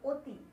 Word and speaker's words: অতি: যেমন দেখো, অটল, অটল কিন্তু অয় থাকছে উচ্চারণটা, কিন্তু অতি, অতিটা কিন্তু আমরা উচ্চারণ করে ফেলছি হচ্ছে অতি।